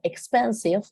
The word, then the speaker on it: expensive: Aquí tengo las listo tengo expensive entonces trato de hacer un poquito no tan grande el sonido pero tengo que hacer alguna digamos que se note un poco que hay una e